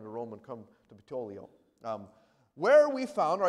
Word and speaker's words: Puteoli: And after one day, the south wind blew and came the next day to Ptolemy. Now, I mispronounce that all the time. Puteoli, all right?